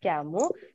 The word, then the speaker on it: Camus: writer called albert campbell we pronounce it as cam okay albert camus so he is the one